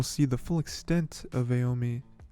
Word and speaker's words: Aomine: I think we'll see the full extent of Aomine's. I like to say just Aome, but there's an extra syllable in there. Aomine.